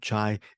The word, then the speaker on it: Chai: to say Fier chai I do know that's her first name that is how you pronounce her first name chai is a Phil Filipino